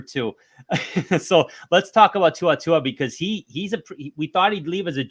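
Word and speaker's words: To'oTo'o: we're one for two so let's talk about tuatua because he he's a PR we thought he'd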